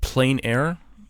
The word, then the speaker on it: plein air: Okay, you're saying is it plein air paint? Is that what? Yes, I suppose it's pronounced a couple different ways. Plein air.